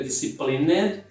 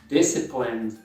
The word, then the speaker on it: disciplined: Em inglês é bem comum, você corta o E, não diga disciplined, e sim disciplined. Primeira sílaba tônica é a primeira.